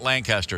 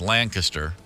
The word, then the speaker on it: Lancaster: this is in land not Lancaster it's Lancaster that's how they say it go to go call